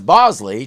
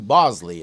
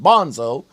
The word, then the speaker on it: Bosley: even once knows who Bosley is even though I know a person who used to consistently mispronounce it Bonzo and not on purpose you say the body